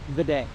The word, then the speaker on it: Vidae Falls: While along the southern rim, we stopped at Vidae Falls, a charming little waterfall of snowmelt. Vidae? Jonathan, how do you say this? Vidae.